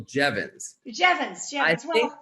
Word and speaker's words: Jeavons: that was pretty close it's actually Jevons that I think that Chevron's is actually the